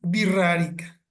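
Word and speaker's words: Wixárika: realidad os son wirrarica se escribe wixarica con x con w y x con acento en la a wixarica pero se pronuncia birrarica Bueno entonces por qué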